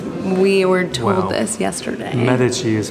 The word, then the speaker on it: Medici: And it had the Medici symbol on it, which is also, how would you say it in English? Because we were told this yesterday. Medici is how you should say it, but you'll